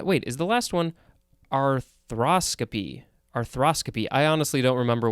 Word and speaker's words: arthroscopy: Now we have arthroscopy, but I think it is more properly pronounced arthroscopy.